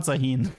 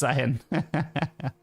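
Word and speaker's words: Zaahen: Not Zaun. It's Zaun. I pronounced him wrong. It's z a a h e n.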